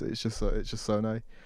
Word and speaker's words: Zonae: Yeah, no, it's just Zonae. Zonae. You could say it how you want, though. To be fair, it's not that deep.